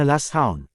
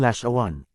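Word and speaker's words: לשון: Ang pagsasama ng lamid at shin ay nagbibigay ng tunog na lash. Ang waw ay isang consonantal vowel na may tunog na U at anon ay N. Kaya ito ay may bigkas na last hound. Kaya lang ang ginawa ng mga gumawa sa Lash one quadish dictionary ay nilagyan ng vowel a ang bawat Hebrew letter kaya naging lash aan.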